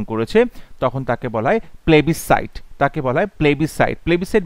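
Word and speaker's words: plebiscite: তখন তাকে বলা হয় প্লেবিসাইট তাকে বলা হয় প্লেবিসাইট প্লেবিসাইট বানানটা important পিএলইবি আই এস সি আইটি প্লেবিসাইড এখানে এস এর উচ্চারণটা সাইলেন্ট আছে সো প্লেবিসাইড আ সলেম প্রমিস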